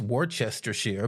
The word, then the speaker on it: Worcestershire: And heck, I live right next door to Worcestershire, which is pronounced Worcestershire.